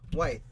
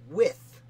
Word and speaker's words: Wythe: Wythe. With. With. It's pronounced with. With. I've been saying it Wythe for way too long.